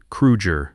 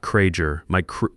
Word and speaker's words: Krueger: You pronounced his name correctly. Kruger, not Krager.